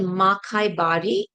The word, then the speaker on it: Makaibari: And how do you pronounce that tea? I was looking at the word. Sure. It's called Makai Bari, Okay.